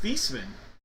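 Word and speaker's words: Theismann: And if you didn't know, Joe Thyman's last name actually is Theman, but he changed the pronunciation of his last name uh during his college years at Notre Dame because he wanted to win the Heisman for the Heisman.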